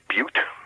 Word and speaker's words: Butte: The capital of Montana, off my top of my head, I think is pronounced Butte. It looks like Butt, B-U. We don't say Butt in this program. Well, no, it's B-U-T-T-E. It's Butte, Montana. I think it's Butte.